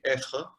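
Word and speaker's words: Ayfre: Pero después sí tenemos algunos pensadores que sí eran ellos mismos fenomenólogos, como por ejemplo, diría principalmente Amédée Effre, que se escribe A-Y-F-R-E, Effre, que fue también cercano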